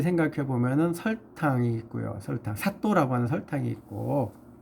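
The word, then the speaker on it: 砂糖: 설탕, 사또라고 하는 설탕이 있고, 사또. 그 사또는 변사또, 춘향전에 나오는 변사또 할 때 사또하고 발음 똑같습니다.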